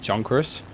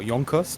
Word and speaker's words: Junkers: a medium bomber by junkers or jungkook's or yonkers depending on which german pronunciation you want to go to and they want